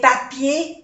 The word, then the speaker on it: papier: Igualmente, palabras que terminan en ER se pronuncia E.